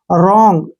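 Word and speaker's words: wrong: जी ठीक है ना आर से पहले क्या आ गया डब्लू तो डब्लू का प्रोनाउंस नहीं करेंगे इसको पढ़ेंगे हम आर ओ एन जी रंग ऐसे रंग ठीक है ना रंग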